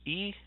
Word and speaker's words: y: The main one you're going to see is actually Y, but it's pronounced E.